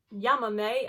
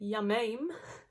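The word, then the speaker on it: Llámame: This is WRS with Yamame, and I've pronounced it correctly now because in my video I called it Yamame.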